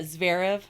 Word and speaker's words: Zverev: As a sadder note, I don't know how to pronounce his name, Sharav. How do you say it? I read his ex-girlfriend's account of his abuse of her, and it was harrowing. Yeah, Zverev.